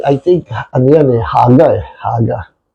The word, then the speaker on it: haga: you meditate ay I think ano yan eh haga eh haga h A G A haga oh tama haga O haga na ang pronunciation niyan p natin yung pronunciation ng haga strongs 1897 haga.